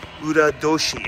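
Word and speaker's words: 閏年: years right and um liar is called Ura Doshi in Japanese instead of Toshi which means year it's pronounced Doshi and look to my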